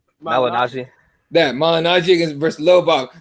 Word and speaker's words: Malignaggi: Malignaggi.